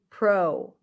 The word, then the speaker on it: protocol: O as in go or a as in father for the first syllable? Okay. If you said O, you are right. This is pro, pro, pro.